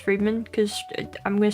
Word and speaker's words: Fremen: The Fremen is supposed to be pronounced Freeman, because I'm gonna say Fremen.